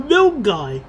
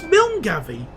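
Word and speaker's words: Milngavie: So, let me just look at the name again. Mil So, Milg Guy. What is it with these place names? I I really thought it was Milgavi.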